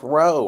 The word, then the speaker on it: Rao: Hello, the last name is pronounced Rowe, Oliver.